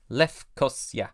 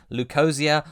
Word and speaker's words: Leucosia: Having learned my lesson with Greek pronunciations, I defaulted to Lefkosia. Lefkosia. I considered going for the anglicised versions, Lucosia or Lucosia, because Ernest Cline's a